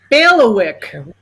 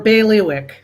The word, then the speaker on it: bailiwick: to the drama part so bailiwick or baileywick alternate pronunciations could you use that